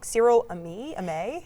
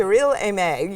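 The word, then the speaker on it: Cyrille Aimée: And I think I'm going to say her name wrong. Cyrille Aimee? Aimee. Okay. Cyrille Aimee.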